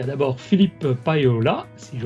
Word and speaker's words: Paiola: Il y a d'abord Philippe Payola, si je prononce bien, et tu prononces bien.